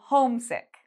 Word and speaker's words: homesick: I say home louder than town and home louder than sick. So homesick.